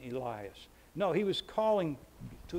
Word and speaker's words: Elias: was talking about Elijah New Testament pronunciation Elias no he was calling